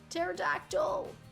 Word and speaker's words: pterodactyl: this bike right now pterodactyl but the p is silent yeah I can make